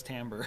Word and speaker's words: Timbre: still don't believe it's Timbre that's how it's pronounced it's a musical term it's terrible yeah no